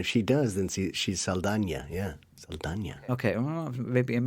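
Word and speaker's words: Saldaña: I think it's Saldana. Saldana, because I think she has the curly thing over the N.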